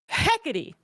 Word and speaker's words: Hecate: goes back to on Hecate. That's how you say it. You're going with it. It's literally Hecate. What you see, what you hear if you Google it.